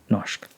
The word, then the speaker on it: norsk: Is norsk. Norsk. Like engelsk.